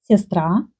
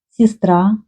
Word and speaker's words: сестра: Ukrainian people will say with ye, сестра, like we write, or verb вернуться. Russian people can pronounce instead of ye и, сестра, вернуться, or я вернусь.